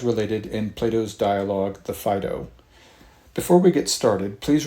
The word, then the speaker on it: Phaedo: hear a distinguished college professor call it the Phaedo, and the more I looked into it, that really is the appropriate pronunciation, coming from the Latin end anyway, when you see an A-E like that, P-H-A-E-D-O.